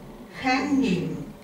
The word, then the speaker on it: hanging: Ну, hang, грубо. Но мы не говорим hang. Мы нос, мы вот эту NG, hanging. На N переводим, да, Наталья? Hanging.